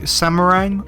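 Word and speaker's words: Semarang: It is the Golden Port map, which is a copy, or at least based on, the Samarang, I believe is how it's pronounced, Indonesia map.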